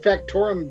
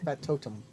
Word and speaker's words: factotum: I kind of like the word factorum better, but I know that you said it wrong. I did say it wrong. Factotum.